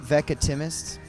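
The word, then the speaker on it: Veckatimest: We pronounce it Vecatimus, but we don't really know how it's pronounced.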